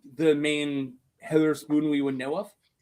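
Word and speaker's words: Hetherspoon: See, I told you he said hedle. He said it wrong. to him. Oh, what what is it then? It's not Heather Spoon.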